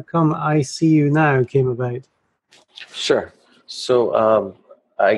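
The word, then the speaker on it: EyeCU Now: yourself and how come ICU Now came about. Sure. So I got started with ICU Now, and by the way, it's spelled E-Y-E, C-U Now, instead of the letter I.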